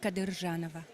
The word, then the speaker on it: Kadyrjanova: Please say your last name so I don't mispronounce it. Kadyrjanova.